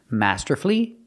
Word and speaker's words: masterfully: l l y and I said the U is silent the U is silent in these three words masterfully beautifully and wonderfully and it's true the